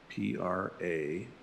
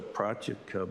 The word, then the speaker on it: Pratyeka: Now, above that is Pratyeka Buddha, P-R-A-T-Y-E-K-A.